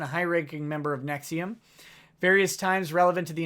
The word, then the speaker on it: NXIVM: H good Lord Nexium it's pronounced Nexium the heartburn medicine okay I thought it